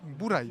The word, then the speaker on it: Bourail: cet endroit bour à cause du lézard donc prononciation cana bouraï bouraï bouril le rail là oui oui oui a vous